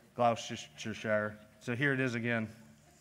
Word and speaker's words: Gloucestershire: here check check check okay here we are gloucestershire lollards now you see that was not just the proper pronunciation but also in the beautiful accent that